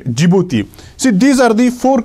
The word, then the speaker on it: Djibouti: the djibouti or see djibouti it is written like this it starts with d but it is pronounced as the g right djibouti see these are the